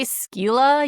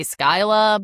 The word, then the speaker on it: Scylla: I do I do you can say Skila, you can say Skyla, but we're going to say Sila because that's the most um common one.